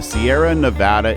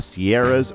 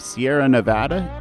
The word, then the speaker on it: Sierra Nevada: this series of videos, let's clear up a very common mispronunciation. Calling it the Sierras or Eastern Sierras is wrong. The literal meaning of Sierra Nevada is snowy mountain range. Now there's only one mountain range, which makes the plural version of Sierra incorrect.